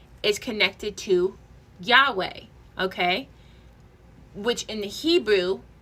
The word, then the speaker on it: Yahweh: Okay because of this exact ancient pronunciation was lost. Modern groups reconstructed pronunciation as Yahweh.